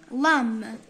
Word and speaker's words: lamb: lamb. اوكي قلنا البي مور الان ما ننطقوهاش.